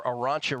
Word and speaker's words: Arantxa: I'm on Victoria Tomova over Arantxa Rus. How do you pronounce that, Kelly?